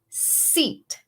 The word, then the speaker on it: seat: Try saying sit, sit, como sentarse, and seat, seat, como silla.